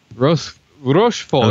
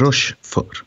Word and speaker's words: Rochefort: How would you pronounce that, Manuel? Rochefort. Rochefort, yeah.